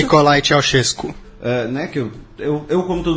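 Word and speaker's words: Ceaușescu: o início do governo do, por favor, a pronúncia? Nikolai Ceausescu.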